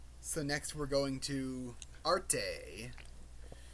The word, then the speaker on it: Arte: next we're going to Arte or Arte that's what that's what it says in the Katakana pronunciation so I'm going from that Arte Arte yeah I I